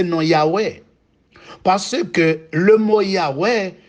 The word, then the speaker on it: Yahweh: Nous parlons de El, Elohim, Adonai et Yahweh.